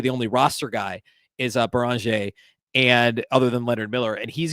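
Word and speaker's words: Beringer: Beranger is how I think it's actually pronounced. Beranger is how Adam Silver said it at the draft.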